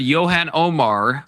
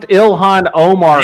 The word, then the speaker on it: Ilhan Omar: Should Yan Omar be deported? Do you do you know who Yan Omar is? I I I can't. It's pronounced Ilhan Omar.